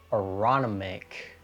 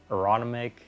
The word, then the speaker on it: Aronimink: And that was in 1962, and it is the Aronimink Golf Club, I think is how you pronounce it. Aronimink, it's a weird name.